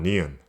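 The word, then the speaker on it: 니은: This consonant is called neon, and it is the sound you make when your tongue touches your upper gum or the roof of your mouth. This ended up sounding kind of like an N sound.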